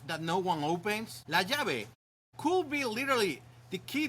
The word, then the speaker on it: llave: Llave. The double L in most Spanish dialects sounds like the English Y in yes.